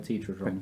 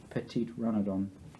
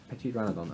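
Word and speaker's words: Petiteranodon: Petitrodron. Petitrodron. Petit dragon. What? Petitrodon. Petitrodon. Yeah, that one. Oh wait, no, it's a mastodon. Oh. So it's a Petitranodon. Petitranodon. Petitranodon.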